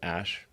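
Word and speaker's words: Æ: letter X and then the AE is like pronounced Ash um yeah and then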